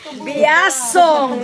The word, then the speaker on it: Biasong: Biasong. Biasong. Huwag kayong magkamaling bigkasin yan. Biasong. Not... In English, Biasong.